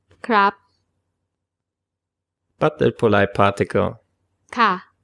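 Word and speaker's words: ครับ: There's only one way of pronouncing the polite particle crap.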